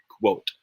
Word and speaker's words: quote: though i can't hear you quote awesome mini code quote all right so at least you tried